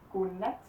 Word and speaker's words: godnat: And godnat.